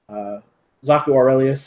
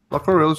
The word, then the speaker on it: Zaku Aurelius: is familiar with Zach, Zaku Aurelius, or I always mispronounce his name. I feel awful because I love Zach. That's correct. Sounded right. Zaku Aurelius is fine.